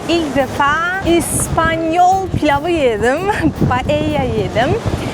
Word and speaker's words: paella: Paella yedim. Biz ona Rusça paella diyoruz ama biliyorsunuz İspanyolcada iki el yan yana olunca y olarak okunuyor.